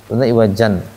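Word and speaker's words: عوجا: alimaad Iwat iwaja panjangan walam yaj'allahu iwaja dua harakat aja enggak boleh panjang-panjang dua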